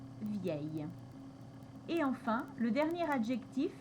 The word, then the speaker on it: vieille: ensuite il y a l'adjectif vieux qui a un féminin spécial où on va avoir le double l qui va également se prononcer ye vieux vieille et enfin le dernier